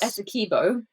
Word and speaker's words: Essequibo: Is it Essequibo or Essequibo in Guyana? Neither. Oh. In Guyana, oh gosh, we call it Essequibo. Essequibo, yeah. but I think in Guyana it might have been Essequibo.